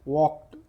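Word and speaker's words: walked: घरों से एंड वॉक्ड इसको हम टी पढ़ते यहां पर एल साइलेंट रहेगा वॉक्ड एंड वॉक्ड टू द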